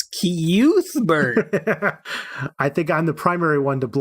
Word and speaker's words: Cuthbert: saying, "You guys are killing me with your pronunciation." It's Cuthbert.